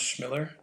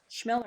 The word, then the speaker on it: Chmilar: My last name is pronounced Chmilar. Chmilar. That's how my family pronounces it, but Yes.